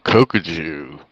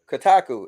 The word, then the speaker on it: Kotaku: So Kokuju. Okay. Kotaku is how it's pronounced.